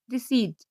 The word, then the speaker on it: receipt: इसका दूसरा रूल है, जब पी के बाद एस या टी या एन आए तो पी साइलेंट होती है, जैसे RECEIPT रिसीट, PNEUMONIA।